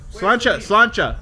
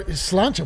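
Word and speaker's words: Sláinte: Slancha. That's how you say it. Or Slancha.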